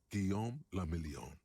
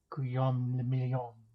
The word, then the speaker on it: Guillaume le Million: Guillaume le Million. If it doesn't rhyme, you're not pronouncing it right. Guillaume le Million.